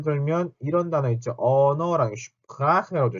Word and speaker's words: Sprache: 언어랑 Sprache라고 하죠. Sprache. 이것도 Sprache라고 하는 게 아니라 Sprache, Sprache 이렇게 슈 하고 소리가 나는 거. Sprache. 이렇게 발음이 된다라는 거.